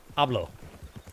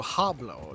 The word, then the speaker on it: hablo: f first lesson it's ablo that's what I saido Noto there's no there's no h you don't pronounce the h what do you mean